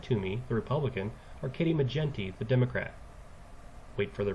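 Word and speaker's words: McGinty: spelling for Katie menty so it's Mick Jen we know it's Jen because it's like 10 and then T so Katie mcent the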